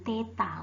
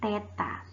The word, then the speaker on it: theta: Nah, suhu satuannya adalah K atau singkatan dari Kelvin dengan dimensi ini disebut dengan theta. Bacanya nih yang si kecil mungil-mungil ini, aduh maaf, kecoret ya, itu disebut dengan theta.